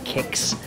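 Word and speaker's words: Qix: Dig actually works similar to an old school game called Kix, Q-I-X. I don't know why it's pronounced Kix.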